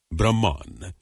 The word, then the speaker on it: Brahma: the impersonal absolute Spirit Brahman Brahma with a long a at the end is the masculine of the neuter impersonal Brahman the storm god rudra